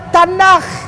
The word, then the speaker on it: Tanakh: Dibacanya Tanakh.